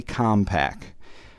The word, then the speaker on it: Commpak: itself is called a compact so the cartridge uh although it's spelled differently it almost sounds like the computer company compact but uh in any